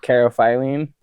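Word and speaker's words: caryophyllene: Oh, carophyllene.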